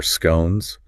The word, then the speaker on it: scone: We have our scones rhyming with gone for our northern friends. Bone for our southern friends.